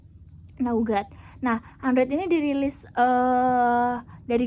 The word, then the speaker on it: Nougat: Cara bacanya Nougat.